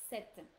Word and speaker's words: cette: So here it's set. So we pronounce it set and it's written C-E-double-T-E. Set. Okay. We go with the double T and the E at the end because it's feminine.